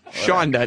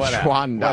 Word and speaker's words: Shonda: Shonda, not Shwanda.